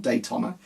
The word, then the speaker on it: Daytona: On the videos I always pronounce it wrong, and I think, I don't say it like that, so it's Daytona, not Daytona.